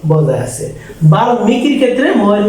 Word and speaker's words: বাল্মীকি: এই যে আমি বলছিলাম এখানে যদি ল থাকে, ট থাকে, গ থাকে, দন্তন্য মূর্ধন্য থাকে, তাহলে এই ময়ের উচ্চারণ বজায় থাকবে। এই জন্য এটা হবে কি বাল্মীকি।